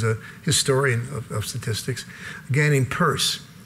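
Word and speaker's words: Peirce: historian of statistics gaining purse that's a strange spelling for the name purse but it's it's what that's how he pronounced his name was the son of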